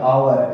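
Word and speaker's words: hour: अब इसमें ध्वनि क्या है, स्वर की है, आवर, एच साइलेंट है, तब हम यहाँ यूज करेंगे एन आवर।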